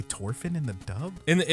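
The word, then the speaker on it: Thorfinn: because they they say thorphin and not torfin oh they say torfin in the dub in the in the sub dude whenever like in the original audio oh they don't pronounce the h they say orphan yeah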